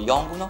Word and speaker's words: Yongnuo: Luci più potenti a LED sono ad esempio lo Yongnuo, si pronuncia così, 300 LED.